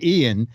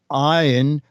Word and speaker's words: Ian: Our email is from Ian Winkler, and he I always say Ian, but he wrote Ian rhymes with Brian.